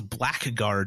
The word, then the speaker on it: blackguard: What you've been reading as a blackguard your whole lives is actually pronounced blackguard. That's real.